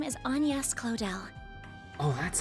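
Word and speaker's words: Agnès Claudel: you a little about myself my name is anas clell oh that's how you pronounce that name but yeah so this is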